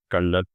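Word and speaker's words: Colonel: Next word कर्नल।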